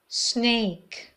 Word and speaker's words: snake: Snake. Snake. فکر کنید بخواید به یکی بگید ساکت. Snake. نگید snake. اولش ای نداره.